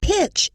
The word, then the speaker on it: pitch: Pitch is spelled P-I-T-C-H. The letters T-C-H make the ch sound.